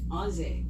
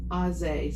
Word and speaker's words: Aze: Ozzy. Yes. Like Ozzy Osbourne or Ozzy? Aze. So it's spelled A-Z-E.